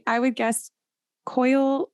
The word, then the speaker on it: Coyle: I would guess Coyle. It's Coyle. Yeah. So Coyle.